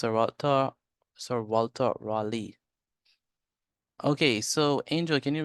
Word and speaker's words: Raleigh: Richard Greenville led the expedition all right it's pronounced Raley I mean Raley Ry r a w l e e that's the pronunciation of this word Raley so s Walter Sir Walter Raley okay so angel can you read this passage